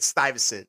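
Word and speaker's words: Stuyvesant: Styosent.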